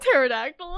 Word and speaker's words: pterodactyl: the dinosaur yeah yeah the pterodactyl with the silent p thalamel one is wild